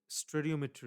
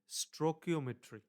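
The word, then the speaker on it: stoichiometry: দেই ওই উপায়টা হচ্ছে স্টেরিওমেট্রি রুলস স্টেরিওমেট্রি রুলসটা কিভাবে কাজ করে উচ্চারণটা আসলে স্ট্রোকিওমেট্রি উচ্চারণটা স্ট্রোকিওমেট্রি বুঝাতে পারছি স্যার এই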